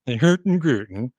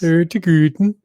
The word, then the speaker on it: Hurtigruten: Hurtigruten. That's right. Hurtigruten. I think a certain Swedish chef serves that. It Doesn't needs he? to be pronounced that way. Yes. Hurtigruten.